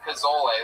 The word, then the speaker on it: pozole: No, if you look up chicken, I believe it's Pozole, and it's pronounced pozole for all you fucking gringos out there.